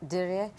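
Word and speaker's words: Dirie: I pronouncing her name correctly? Yeah, yes. Diri.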